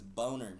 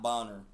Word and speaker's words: Boner: confirm Your last name is Boner, kid. Not Bonner.